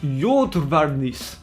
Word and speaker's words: Juodvarnis: je peux me permettre ça se prononce yacht varmus d'un regarde youval tennis